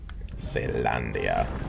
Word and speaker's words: Caelondia: Caelondia.